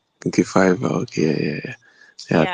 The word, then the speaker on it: Fiverr: This um this app is it is it pronounced as Fiverr or Fever please so that I don't fall my hands anywhere I go. It it is f my Okay. Fiverr.